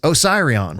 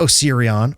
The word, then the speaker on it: Osiris: Thus, the pronunciation is Osiris. It's not Osirion or Osarion. It's Osiris.